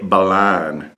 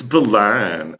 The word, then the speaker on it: Berlin: Why does he say Balan? Because that's how you say it. Only tourists pronounce the R. It's Balan.